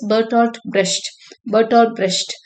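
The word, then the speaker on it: Bertolt Brecht: இட் is pronounced as பெர்டால்ட் பிரஷ்ட்.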